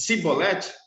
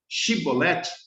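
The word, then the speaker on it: shibboleth: Se ele dissesse cibolete, sem conseguir pronunciar corretamente a palavra que era chibolete, que era algo em torno de espiga de milho, né?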